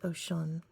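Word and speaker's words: Oshun: Mythology, pronounced Oshan, the Brazilian Mumba goddess of the waters, streams, brooks, but she is actually deeper than Brazil.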